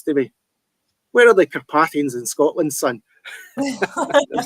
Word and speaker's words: Carpathian: Is it Carpathian or Carpathian, or what's the correct pronunciation? It's Carpathian.